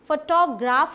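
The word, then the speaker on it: photograph: तो अब आते हैं, जब वो फोटोग्राफी एंड फोटोग्राफर था तो क्या ये फोटोग्राफ होगा, ना तो ये फोटोग्राफ होगा, ना तो ये फोटोग्राफ होगा। ये क्या होगा, ये होगा फोटोग्राफ, फोटोग्राफ। देखिए कहाँ पर स्ट्रेस देना है, फो पे, फोटोग्राफ, फोटोग्राफ।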